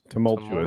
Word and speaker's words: tumultuous: Tumultuous.